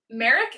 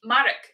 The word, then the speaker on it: Marek: Two potential pronunciations. Merrick N. Or if you're Polish, Marek N.